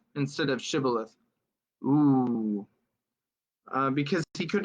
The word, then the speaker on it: shibboleth: and he said shibboleth for he could not pronounce it right oh he said sybileth instead of shibboleth ooh because he could not pronounce it right